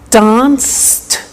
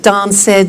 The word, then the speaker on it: danced: look at that watched danced eliminate the e pronounce the T danced laughed washed and walked okay now the temptation is to say watch ed Dan said the laugh ed wash